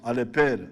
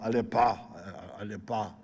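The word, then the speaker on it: Aleper: one of the mps somebody could not pronounce alepper alepper i think they were calling him aleppo how can you fail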